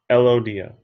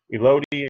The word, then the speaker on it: Elodea: Elodea. Elodea or Elodea, however you want to pronounce it, is correct.